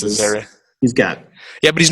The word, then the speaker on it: Azaria: Hank Azaria, I don't know how to pronounce his last name. Hank Azaria, I think it's Azaria.